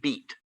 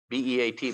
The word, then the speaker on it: Beat: I thought it was just Beat, B-E-A-T, but it's pronounced Beat Krummenmacher was the name of that's the case that decided practical difficulties.